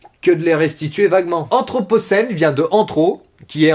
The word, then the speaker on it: anthropocène: Aujourd'hui, le mot c'est anthropocène, et ça se prononce anthropocène.